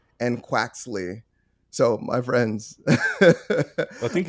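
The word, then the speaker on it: Quaxly: I'm already pronouncing them wrong. So it's Sprigatito, Foy Coco, and Quaxley. So, my friends, I think you got Quaxley correct.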